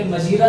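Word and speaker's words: hymn: इसके उच्चारण का ध्यान रखिए, ये पसलम नहीं है, ये साम बोला जाता है और ये हिम बोला जाता है। इसमें भी क्या रहता है? एन साइलेंट रहता है।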